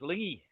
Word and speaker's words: Lenzie: It should actually be pronounced Lingy, like Mingus.